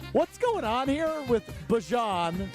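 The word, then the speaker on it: Bijan: How you pronounce my name is Bjon for everybody that's that's out there. Um I know a lot of people say Bjon, but it's Bjon.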